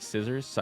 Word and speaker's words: Scizor: Isn't it like scissors instead of scizorm? Scissor probably. I don't know if you've heard, but I just mispronounced things.